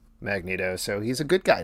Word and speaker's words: Magneto: everything in my life you're like magnito magna tattoo magnitado yes the marvel legends modern x-men magneto so he's a good